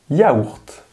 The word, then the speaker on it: yaourt: Je mange un yaourt. Y se pronuncia un poquito como si fuese la doble L en español.